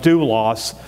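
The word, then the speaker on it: δοῦλος: And he made sure that whenever you come across this Greek word for servant or bondservant, which is pronounced doulos, it's always translated slave.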